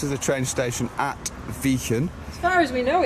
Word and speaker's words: Wijchen: n exactly great spelling normally you'd pronounce vegan vacant wouldn't but actually they pronounce this place vegan or vegan apparently it dates back to like old dutch when the ij used to be a different sound than a so we're